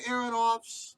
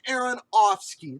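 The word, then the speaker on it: Aronofsky: out because the thing is is that darren aaronoff's darren aaron opps darren aaron whatever the his name is darren aaron offski there you go i finally said it right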